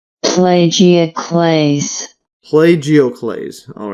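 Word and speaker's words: plagioclase: and plagio plagio class let's see how this pronounced plagio Clays plagio Clays all right interesting and here is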